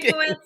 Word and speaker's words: Stankiewicz: Stankiewicz. Hi. Dr. You're, am I close. pronouncing that right? You're close. It's Close. Okay. Stankiewicz, but hey, I've heard many different pronunciations, so I am not offended whatsoever.